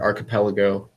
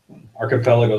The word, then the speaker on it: archipelago: have about goog or archipelago finally pronouncing that right yeah you are you are because for the longest time I just I don't know maybe I'm slightly dyslexic I don't know AR capelo's a cluster of islands